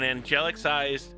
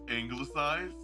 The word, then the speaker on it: anglicized: It's anglicized. Ah, see another word that I did not know how to pronounce. There's no E to make it angle.